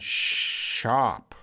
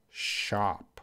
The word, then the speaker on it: shop: ever like me Fanny how about soap and shop soap shop Shh shop Fanny are you repeating after me soap Shh look at the mouth shop soap shop lately maybe